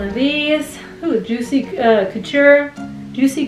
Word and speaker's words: Couture: these oh juicy uh couture juicy coocher some people pronounce it couture juicy couture juicy coocher um juicy couture los